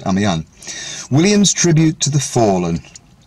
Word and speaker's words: Amiens: it's French so it's spelled are me are pronounced I'm young Williams tribute to the fallen they laugh have